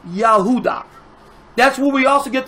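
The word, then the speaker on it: יהודה: you would say yahudah now how do you say Judah you would say yahudah that's what we also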